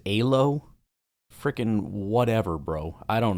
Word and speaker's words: Elo: Apparently, the proper Hungarian way to say it is Alo freaking whatever, bro.